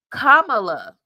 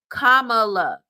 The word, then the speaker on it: Kamala: that part whatsoever okay oh here we go Kamala that's how you pronounce her name so she also stated in her Memoir because she knows this is uh people mispronounce it Kamala okay Kamala that's how you that's how you say it